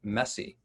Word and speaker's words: MSCI: multiple simultaneous conflicting imperatives the acronym is msci and it's pronounced messy and for the visual